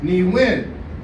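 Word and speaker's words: niiwin: like when I say ni win I say me when like I over exaggerate the first syllable Some People Say ni win where they put the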